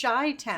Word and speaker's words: Chi-Town: Chi-Town says, well, I know you use TSS to mispronounce my name, so I feel safe here. It's Chi-Town.